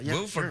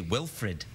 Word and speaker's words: Wilford: as in Wilford yeah Wilford Brimley is coming here I sometimes want to say Wilfred Wilfred wi for it's yeah